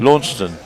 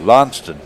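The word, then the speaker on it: Launceston: How's the UK version pronounced, Jason? Lawnston. Lawnston or or if you're even more in the south actually Lston.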